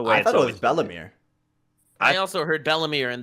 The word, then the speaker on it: Belle-Mère: Because her name is basically Bellemere. In French, it's Belle-Mère, and that just means stepmother, right? Every way I've heard it said was always Bellemere.